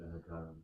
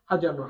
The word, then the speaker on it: حجر: ما ذلك ذلك هجر ذلك حجر. Okay, pronounce the ha properly. Okay, حجر.